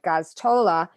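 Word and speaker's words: Gosztola: And I have to say, Kevin, I'm going to pronounce his name right, Gaztola in Shadowproof, I just posted the link to their website on my on the show, did an excellent, blow-by-blow description.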